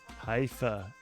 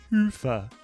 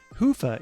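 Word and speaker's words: Hyvä: talk Commerce is sponsored by hia or as the Europeans say Hua or the right way to say it hoofa is rapidly becoming the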